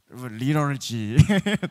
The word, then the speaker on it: liturgy: 리터지. 발음 괜찮았나요? 우리 LITURGY인데 우리 승희 원장님 한 번만, 우리 데이비 스쿨을 이끌 승희 원장님 영어 한 번만 보여주시죠. 리럴지. 저랑 많이 다른데요? 리럴지라고 합니다.